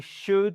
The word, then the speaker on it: should: Should sh et pas. Ce n'est pas un ou long suivi d'un l. No way. C'est should. Le l on ne l'entend pas.